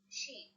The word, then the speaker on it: شين: The pronunciation of sheen is sha or ish, sha or ish.